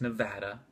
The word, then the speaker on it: Nevada: And I realize I mispronounced it incorrectly. It's Nevada, but I'm not calling Nevada.